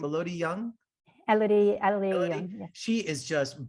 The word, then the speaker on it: Elodie: Elodie Young.